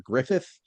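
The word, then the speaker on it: Gruffydd: Can we confirm that his name is Mr. Griffith, despite the fact that it's G R U FF Y D, right?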